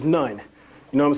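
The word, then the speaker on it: نون: And as you know, Noon is actually, within our language, will be pronounced as nun.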